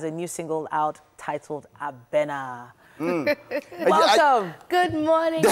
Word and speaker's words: Abena: Abena. Abena. Abena. Abena. So it's actually a Ghanaian name. A lot of people struggle to pronounce it, as did I when I first heard it.